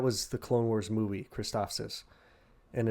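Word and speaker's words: Christophsis: So that was the Clone Wars movie, Kristophsis. And it's literally just Kristoff, like Christopher sis. Kristophsis.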